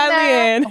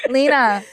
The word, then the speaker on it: Lena: Leanne. Who the fuck is Leanne? Lena.